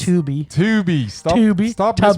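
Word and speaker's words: Tubi: or I'm assuming it's Tuby. Tuby. Stop. Stop pronouncing pronouncing stuff when people were trying to direct people to it. Tubby. Well, Tubby would be the two B's.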